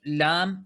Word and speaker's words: Lam: Ahora no se dice acá A, I, U, sino que se pronuncia Alif, ¿sí? Acá también la L no es ahora la, li, lu, sino que es Lam, su nombre completo en árabe. Y cada letra, sea Alif,